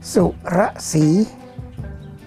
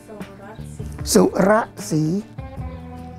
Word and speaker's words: Surasee: Surasee. Surasee.